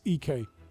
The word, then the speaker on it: Ike: I just discovered that literally yesterday or the day before that it's EK.